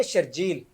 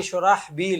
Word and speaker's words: شرحبیل: ہمارے ہاں جو ایک معروف نام ہے نا شرجیل, ہاں جی, یہ اصل جو اس کا تلفظ اصل نام ہے یہ شرحبیل ہے. اچھا, یہ بعد میں آ کر وہ تبدیلی ہوتی تو شرجیل بن گیا.